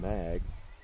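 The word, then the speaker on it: Maag: In on the tackle for East Noble was Ethan Mag. M-A-A-G. I'm guessing that's pronounced as though it's a short A.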